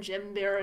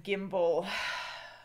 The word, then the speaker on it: gimble: Was briling in this slithy tove, did gyre and jimbir in the waves. Okay, all mimsy were the borogroves and the mumble raths outgrabe. It's pronounced gyre and gimble.